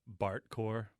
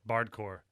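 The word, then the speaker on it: bardcore: heard of the genre uh bart core bart core yeah has something to do with the simpsons i guess no no like like a bart like back in medieval times bard how do you say it oh a bard bard core yeah yeah sorry i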